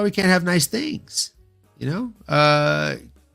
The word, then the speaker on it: Cutelaba: Cutelaba, not Cutelaba. I told you, you're here for the bad pronunciations.